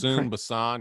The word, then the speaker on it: Busan: Is it Train to Busan? Is that how you say it? Busan.